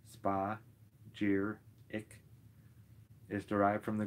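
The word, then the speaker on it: spagyric: termed spudgy ryx by Paracelsus the word spheric pronounced spa jeer it is derived from the Greek word meaning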